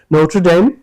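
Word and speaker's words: Notre Dame: তোমটা British উচ্চারণ হচ্ছে ট্র টি আর ই নোট্রডাইম আর American উচ্চারণ নোটারডাইম ওখানে টি আর এর মাঝখানে ওরা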